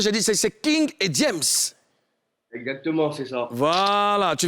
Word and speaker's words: King Ediems: Est-ce que j'ai bien prononcé? J'ai dit c'est King et James.